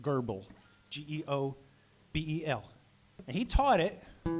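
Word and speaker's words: Goebel: fellow named gerbil reeves no r in his name not in his first name but that's how you pronounce it gerbil g-e-o-b-e-l and he taught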